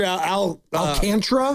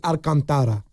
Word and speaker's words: Alcantara: Well, I've heard Al I've heard Alcantra. Alcantara. That's definitely not it. Yeah. Well, I don't I'm just telling you as a Spanish last name, it'd be Alcantara.